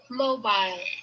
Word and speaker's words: Mobile: Mobile, or in Alabama, mobile. Mobile. First. So Mobile, as in Alabama, Mobile. That's how they pronounce it.